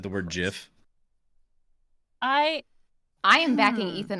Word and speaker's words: GIF: Giant giraffe GIF.